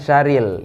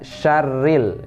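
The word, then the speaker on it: شرّ: saya mendengar Meisya Ril Syahril bukan Syahril yang benar yang benar syarril er hari ini diingat Meme syarril syarril ada tasydidnya waswa ini waswasil Nissin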